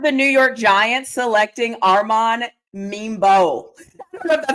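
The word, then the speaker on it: Armand Membou: I have the New York Giants selecting Arman Mebo.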